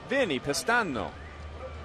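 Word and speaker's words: Vinnie Pestano: Vinny Pistano. That's how you really say his name. That's how they say it in the homeland.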